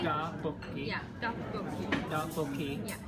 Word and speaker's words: 떡볶이: It's like duck is rice cake, and then so you can say duck and 볶이 like separately. 떡볶이. Yeah, 떡볶이. 떡볶이. Yeah, 떡. 떡. Uh-huh. 볶이. 볶이. Yeah, right. 떡볶이.